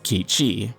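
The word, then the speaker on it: Cait Sith: some people mad but Cape she will be pronounced as kiichi and interestingly enough has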